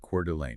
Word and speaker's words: Coeur d'Alene: And for those of you outside the region, remember that is pronounced Coeur d'Alene.